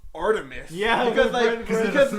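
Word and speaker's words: Art3mis: oh my god, it's Artemis, pronounced Artemis.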